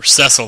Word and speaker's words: Cecil: as you can see Cecil's having or cesil I guess I should say that's officially the pronunciation I always thought the